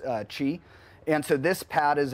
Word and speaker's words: Qi: wireless Qi charging it's it's spelled Qi but pronounced Qi and so this pad is a inductive coil